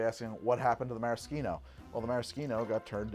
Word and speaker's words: maraschino: As far as I know, bartenders that I have met use the word maraschino when we're talking about the liqueur or the imported cherries, because that's the Italian pronunciation, right? And if you say maraschino, it's understood to be